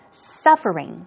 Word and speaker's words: suffering: suffering here we go stress goes right there on the first syllable suffering so we're talking about